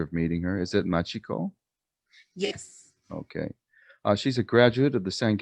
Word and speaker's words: Machiko: Am I pronouncing the first name correctly? I haven't had the pleasure of meeting her. Is it Machiko?